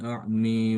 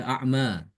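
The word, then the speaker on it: أَعْمَىٰ: Waman kaana fi hadihi a'mi fahua fil akhirati a'mi wa adolu sabila. Jadi dibaca a'mi. A'm ya gampang ya. Insyaallah bisa. Kalau imam hafaz kan dibaca a'ma. Ama ini nanti kalau kita membaca Imam Subah dibacanya A'mi.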